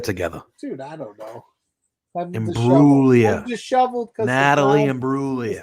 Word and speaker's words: Imbruglia: He asked it right off the Natalie and Bruglia.